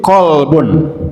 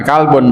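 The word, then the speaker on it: قلب: Sekali lagi, wafis suduri kolbun ya, bukan kalbun bacanya ya.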